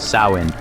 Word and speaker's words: Samhain: Fact: the roots go back over 2,000 years to the Celtic festival of Samhain, pronounced Samhain.